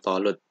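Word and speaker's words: Thalut: Nabi Daud alaihissalam ikut berperang bersama pasukan Raja Tolut, ya bacanya Tolut karena dalam Al-Quran disebutnya menggunakan huruf to.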